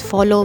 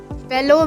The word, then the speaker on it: fellow: So, in my last video I pronounced fellow man and fellow men as follow man and follow men, so do the correction there. Fellow man as singular and fellow men as plural.